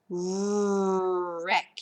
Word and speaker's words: wreck: You got a silent K on that one. Wreck.